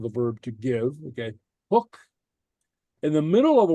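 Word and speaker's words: thug: th in English uh it disappears and acquires an H sound so hook okay uh uh uh to gave something a past tense of the verb to give okay hook in the middle of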